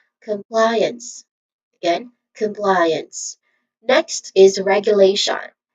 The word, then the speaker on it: compliance: And lastly the final syllable and it is interested. It's very easy because it's using uns. It's a short weak and stressed vowel sound. So all in all, this is compliance.